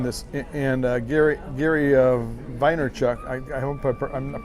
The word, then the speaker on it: Vaynerchuk: little bit it's by jerry vander chuck and i'm pronouncing his name wrong mine Steve it is Gary Vaynerchuk okay and he's an